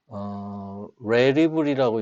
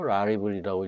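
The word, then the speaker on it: Rarible: 레리블이라고 읽어야 되나요? 라리블이라고 읽어야 되는지 모르겠는데 하여튼 여기 보면 오픈시와 유사한 거래고요.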